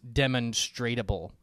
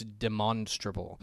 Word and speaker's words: demonstrable: end of demonstrate but it's not demonstratable it's demonstrable so you actually pronounce it differently in this tense uh